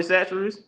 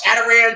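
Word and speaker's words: Chachere's: CH something chatter s how do you say it Tony Sates see I would have never said Sates like chatar chat they say Tony Tony is cool like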